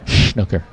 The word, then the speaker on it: snooker: Snooker. It's snooker. Pronounced with a U.